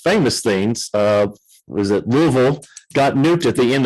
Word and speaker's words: Louisville: Uh how do you pronounce the city you live in? Louisville. Uh I'm Louisville. So I I grew up here. I'm from Ohio. So and there's some that say Lewisville.